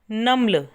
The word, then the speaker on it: NUML: जैसे national university of modern language के NUML words लेके नम्ल, इसको प्रोनाउंस किया जाता है नम्ल।